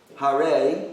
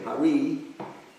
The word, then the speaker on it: Hare: Hare, which most people can do, although a lot of them will say Hari. That's great. It's fine.